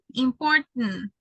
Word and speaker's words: important: Important. Like a letter N at the end. Important. Or Manhattan. Is that Manhattan? Manhattan. So it's like if you eliminate the last syllable and you only produce or pronounce the letter T.